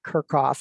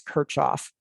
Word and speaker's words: Kirchhoff: measurements across the circuit and compared it to Kirchhoff's law. I was pronouncing that incorrectly. It was brought to my attention that it's not Kirchhoff, it's Kirchhoff.